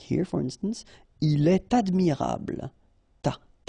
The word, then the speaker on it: il est admirable: So like here, for instance, il est admirable, ta, il est admirable, okay, elle est intéressée, all right, so in all these cases you should make the liaison, and in that case it's with t.